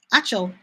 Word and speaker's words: Acho: Is that the way you pronounce it? Acho.